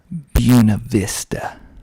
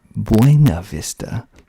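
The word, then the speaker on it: Buena Vista: then there's a Walmart buav Vista spelled b u n a Vista not bu Vista but bua Vista that's how that's how the locals pronounce it buav Vista next we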